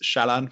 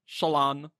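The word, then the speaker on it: Shallan: I was Shalan for a long time and then went to Shalan. Yeah. So I used to say Shalan, but now I say Shalon. Yes, lots of people have said it that way. Yeah. So, but Brandon does say Shalon, so I always said Shalon personally.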